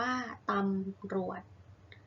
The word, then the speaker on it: ตำรวจ: ตัว สะกด เช่น เอ่อ ตำรวจ อ่าน ว่า ตำรวจ พืช อ่าน ว่า พืช